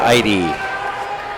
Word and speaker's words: Eide: 5, and Maria Maria Eide. I was waiting for the announcer to say her name because it looks like ELDE, but it's EIDE is her last name.